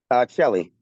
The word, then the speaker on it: Celli: Celli. Kelly. Okay. Celli. Celli like CH. Oh, Celli. Okay, there's Yep. no H in there. No, Italian pronunciation is always CE, is always pronounced as a CH.